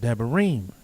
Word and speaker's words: Debarim: the book called deuteronomy and hebrew pronunciation it is called deburim which means these are